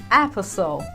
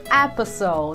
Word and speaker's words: apostle: Apostle. Apostle. De novo, não diga apostle, diga apostle.